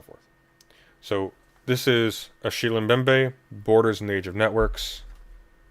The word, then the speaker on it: Mbembe: Nate side note for the name uh the mem is silent oh bembe so a shield bembe God I've been calling him mbembe forever so that's embarrassing um uh bmbe is cameroonian and that's